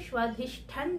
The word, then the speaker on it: স্বাধিষ্ঠান: বাংলায় সেটা স্বাধিষ্ঠান চক্রা চলতি ভাষায় স্বাধিষ্ঠান চক্রা একচুয়ালি উচ্চারণ হবে স্বাধিষ্ঠান চক্রা তো বন্ধুরা তার আগেই